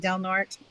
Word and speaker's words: Del Norte: Del Norte, but up here they pronounce it Del Norte.